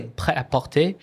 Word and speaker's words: prêt-à-porter: But when you say prêt-à-porter, because the word in the middle is so it becomes prêt-à-porter.